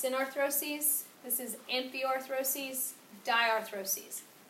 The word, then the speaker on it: synarthrosis: this chapter the three functional classifications this is pronounced synarthrosis this is empty arthrosis diarthrosis if it has